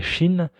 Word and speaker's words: Qin: Juste avant les Han, il y avait eu la dynastie des Qin. Donc ça se prononce Qin, mais ça s'écrit Qin.